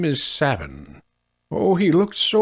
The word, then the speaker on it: Sabin: I'll be saying Sabin, by the way, because that's how I've always pronounced it. I should look up the Japanese pronunciation, or the Japanese written form at some point to determine if it's actually like Sabine or whatever, but I'm going to say Sabin because that's what I've always said, so that's my line in the sand.